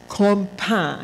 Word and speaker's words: campagne: Pronounced campagne.